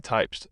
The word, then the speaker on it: Typst: Latex is correctly latic or lc so not polymer and typist is correctly typed so not a worker.